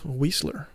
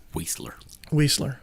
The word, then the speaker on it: Weisler: But that winner was Benita Weisler. That's how you say her name. Weisler.